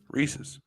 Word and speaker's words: Reese's: Reese's. It's Reese's. That's what I say. But people do say, because it rhymes with pieces.